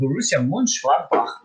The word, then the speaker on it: Borussia Mönchengladbach: The first team is a German team, also called Borussia Mönchengladbach versus Manchester City. Nice pronunciation, Marco, by the way.